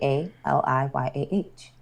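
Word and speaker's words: Aaliyah: But I'm saying how you spell it. That's my name. A A L I Y A H.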